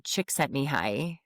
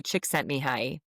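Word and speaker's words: Csikszentmihalyi: His name is Mihi Chickset Mihi. Say that. Yeah, you're not going to be able to spell it, but say that to No, I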